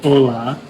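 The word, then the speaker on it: olá: To say hello, you say hola. Uh, I was told it's like you think of the little snowman in Frozen, but you don't say the f.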